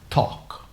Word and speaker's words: talk: is incorrect so how many pros are you pronounce talk talk to me baby okay talk to me talk to me are you talking